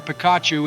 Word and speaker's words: Pikachu: surprise you and show you we named our Pikachu and honor you our first Pokémon and most